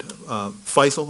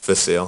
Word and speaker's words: Fasil: All right, so let's talk about your friend Faisal, is that how it's pronounced? Facile. Facile, I'm sorry about that.